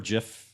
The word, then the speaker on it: GIF: did get some feedback from our is it gif or Jif little spurt last week overwhelmingly people want to pronounce a gift yeah but I mean isn't